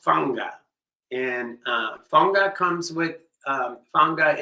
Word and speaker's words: fanga: So it's been a while, many months since we've done this rhythm, and it's called fanga. And fanga comes with fanga is spelled F-A-N-G-A.